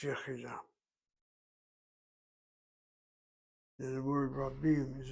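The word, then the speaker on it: יְחִידָה: Just think of the word yachid, 2 syllables, add the kamatz, you have 3 syllables, and you drop the kamatz to shvana as you add the kamatz. You don't have this yachidah, it's yachidah.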